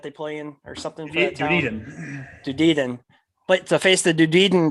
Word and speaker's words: Dunedin: You are offending so many octogenarians right now by mispronouncing Dunedin. Come on, Dunedin.